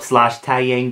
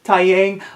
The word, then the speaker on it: Taeyang: oh my gosh my very first pull up /tao yang doll whatever you prefer to call it this